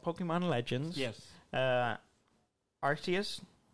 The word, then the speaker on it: Arceus: pokemon legends yes uh arceus is that right is that cerseus i think that's how you pronounce it arceus um arceus a open